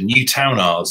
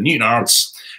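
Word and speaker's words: Newtownards: It's a bit like when people first land in Northern Ireland, when I did, and they go to Newtown Isles instead of Newton Isles.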